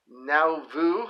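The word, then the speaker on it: Nauvoo: of this up is now vu that's n-a-u-v-o-o alabama that's new era wrestling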